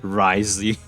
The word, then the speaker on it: Wriothesley: no sense how people pronounce this guy's name Risley it's like w o t h is silent like what Roth is silent from this name that's how they call it risey those who have the Duke's attention get all